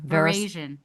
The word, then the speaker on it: veraison: Verasion. Verasion, Verasion.